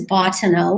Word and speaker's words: Bottineau: your full name so the last name is Bano which is b o TT I ne e